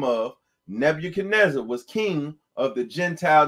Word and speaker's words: Nebuchadnezzar: And the last part is Zar. And it's a good thing you say that, because when I first read the Bible for myself, I used to call him Nebuchadnezzar.